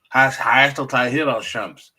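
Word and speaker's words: Hayat Tahrir al-Sham: After an assault by Hayat I believe the proper pronunciation is Hayat al-Shams, Hayat al-Tahrir al-Shams, which is a constellation of a terrorist-led organization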